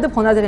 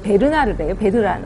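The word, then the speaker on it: Bernard: 자, 그 다음에 제가 발음을 좀 잘못했나 봐. 버나드를 했는데 그게 아니라 베르나르래요. 베르나르.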